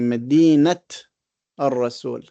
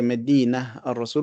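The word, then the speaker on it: مدينة الرسول: But if it is in idafa, we pronounce the ta marbuta. So we say Medinat al-Rasul. We don't say Medina al-Rasul, we say Medinat al-Rasul.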